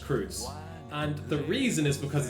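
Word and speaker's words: Kreuz: Kreutz, but Kreutz is spelled as like a hash, because I think in German that thing is pronounced Kreutz.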